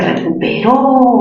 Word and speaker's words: recuperó: Se recuperó. Mayor fuerza en la sílaba, ro.